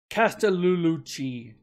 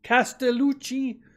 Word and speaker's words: Castellucci: voice plays Jeff cast I can never say his name right Casta lulucci Castellucci Jeff Castellucci from boys